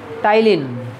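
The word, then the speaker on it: ptyalin: इसका दूसरा नाम क्या है, दूसरा नाम टाइलिन, क्या नाम है, पी साइलेंट है इसमें, टाइलिन पी साइलेंट है, ठीक है, टाइलिन करो प्रोनाउंस, टाइलिन, ठीक है ना, तो salivary amylase टाइलिन, otherwise also called as टाइलिन।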